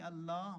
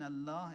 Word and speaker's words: Allah: alight embedded in it l in Allah is called L Jalal that is why you have to pronounce it with a heavy mouth Allah Allah you write